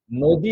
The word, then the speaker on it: নদী: কিন্তু মজার ব্যাপার হচ্ছে হ্রস্ব ইকার, দীর্ঘ ইকার বাংলা ভাষায় বানানে পার্থক্য সৃষ্টি করে, উচ্চারণে পার্থক্য সৃষ্টি করে না। যেমন আমরা নদী বানানটি যদি নদী, এই যে নদী বানান, নদী লিখলাম।